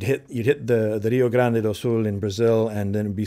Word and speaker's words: Rio Grande: Do is an old sea shanty called the Rio Grande and uh it's mispronounced that way there it's Rio Grande which is a river in Brazil and it's